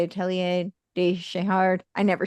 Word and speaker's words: de Chardin: Atelier de Chahard. I never say his name well, but de Chardin.